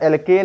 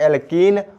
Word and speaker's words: एल्कीन: हम पढ़ रहे हैं एल्कीन और एल्काइन इसका प्रोनाउंस सही से करना पड़ेगा नहीं तो गड़बड़ हो जाएगा एल्कीन और एल्काइन तो सबसे